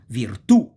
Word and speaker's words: virtù: So we call the word tronche, tronche mean truncated, if the accent goes on the last syllable.